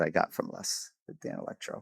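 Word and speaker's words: Danelectro: And uh I said, "What's with this Danny Electro guitar?" He's like, "It's pronounced Dan Electro."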